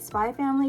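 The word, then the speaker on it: Spy × Family: about spy x family i like calling it spy family because i feel like it's like hunter hunter the x is silent we don't acknowledge it so i went in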